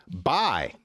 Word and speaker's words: buy: Buy, which rhymes with die.